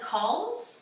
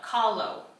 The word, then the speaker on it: Kahlo: Frida Calls? Yeah. Frida Call? Sure. That's what we'll go with. So, no. Kahlo. Kahlo? Kahlo? It's K-A-H-L-O.